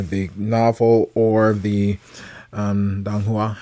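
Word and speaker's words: donghua: novel or the um dong Hua I believe is how it's pronounced um I put up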